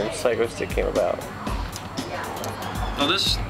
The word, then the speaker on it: Psychostick: And original pronunciation was going to be psychostic, which created all sorts of confusion locally when we cuz there's a there was a song where he said, "I'm in that band psychosic." The original recording of Inaband Chicks, I said psychostic. And then and we couldn't think of a title. I pronounced it psycho stick. So we went with the the more obvious pronunciation.